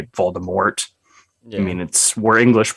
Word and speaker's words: Voldemort: I mean, everyone in the movie says Voldemort with a T.